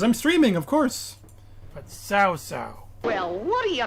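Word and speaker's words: Cao Cao: And even after doing some further research, I found out not even the game is pronouncing it correctly. It's more like Sao Sao. All right. Sao Sao. Not KO, not Cow Cow, but Sao Sao.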